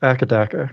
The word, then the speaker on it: AC/DC: Also, it's pronounced akadaka.